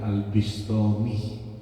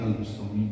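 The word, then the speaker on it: al-Bustami: Bustomi ada yang bacanya Al bistomi boleh ada yang bacanya Al Bustomi boleh namanya Al Imam Abu Yazid Al Bustami beliau ini jadi kekasih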